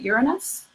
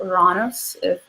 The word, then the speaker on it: Uranus: Aquarius is ruled by the planet Uranus or iran-us depending on how you choose to pronounce it it removes the third